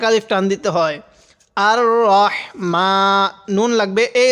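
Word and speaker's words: الرحمن: এখানে রাহিম পড়ি এখানে রাহমানির রহিম এরকম করে পড়ি এরকম করে পড়বো না তাহলে বলেন তো এই শব্দটা কি হবে রাহমান হবে না রহমান হবে হ্যাঁ রহমান রহমানির এরকম হবে রাহমানির এরকম পড়বো না রহিম এটা আমরা অনেকে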